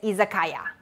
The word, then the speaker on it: Izakaya: and ya when you combine it together is izakaya and in chinese we pronounce these three characters which means exactly the